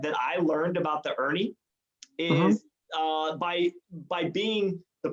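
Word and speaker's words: Erne: point out is that the shot e are in E is how it's spelled Ernie and you might hear some people say urban or Ernie with ie but the truth is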